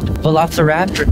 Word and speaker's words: Velociraptor: Velociraptor means fast thief. It's pronounced Velociraptor.